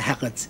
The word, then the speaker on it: herd: But they say herd, and the R has that interruption.